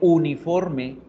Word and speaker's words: uniform: Entonces la U es la única que debemos prestarle mucha atención porque, miren, a veces suena vocal y en el caso de uniforme, en inglés se pronuncia uniform.